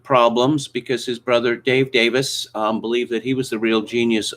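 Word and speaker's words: Davies: last name is pronounced davis yes this the e is uh the e is silent on that side of the pond at any rate it's a welsh name um okay let's uh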